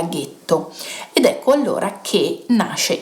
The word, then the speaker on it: ghetto: E poiché gli ebrei che vivevano a Venezia erano per lo più ashkenaziti e quindi non riuscivano a dire la G dolce, la parola getto nella loro pronuncia diventa ghetto.